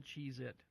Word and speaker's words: Cheez-It: Spell Cheez-It. Cheez-Its. Spell it. Cheezits. See, I misled you. No S on it. I misled you. It's Cheez-It on the package. Cheez-It, yeah. It's not Cheez-Its. Yeah, there's no S.